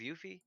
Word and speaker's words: Yuffie: By the end of this game, are you It's gonna- going to be are you going to cross paths with Yuffie or Sid?